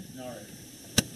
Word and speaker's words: Nareg: Narek. How do you spell that one?